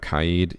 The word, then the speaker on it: Kaid: And now we have Kaid. Yes, that is how his name is pronounced.